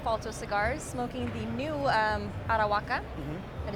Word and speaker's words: Arahuaca: Here now with Todd Wright of Falto Cigars, smoking the new Arahuaca.